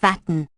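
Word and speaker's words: وطن: Watan literally meaning birthplace but also used for patria, native country, thus Habal Watan equals patriotism. The Turks pronounce it Vatan, which the French have turned it into Vatan.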